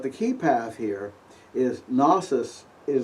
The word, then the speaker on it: gnosis: And by the way, although I don't do it, the proper pronunciation is, believe it or not, gnosis. The G is pronounced.